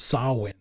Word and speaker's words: Samhain: sam heym have you seen that but it's pronounced sawwin oh it's a guy it's a tradition that's